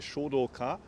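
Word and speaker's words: Shōdōka: That's the Japanese pronunciation. Shodoka.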